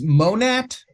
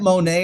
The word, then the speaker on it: Monat: It's Monat. Okay, MON. so no silent letters. Yeah, it's funny. I get Monet, and I'm like, I think if I was related to Monet, I'd be able to be retired by now.